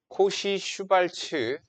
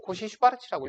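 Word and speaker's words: Cauchy–Schwarz: 자, 코시 슈바르츠 요거 아닙니다. 코시발츠라고 읽을 수도 있고 코시 슈발르츠라고 읽을 수도 있고 이게 사람 두 명일 걸 아마 코시 그리고 슈바르츠 아마 두 명일과 코시 슈바르츠의 부등식이에요.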